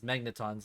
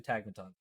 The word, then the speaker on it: Tagmatons: Matt went on a vacation or something, like he left, and then Henrik messed up the name and he put him as Magnetons in the first one, but it's actually Tagmatons.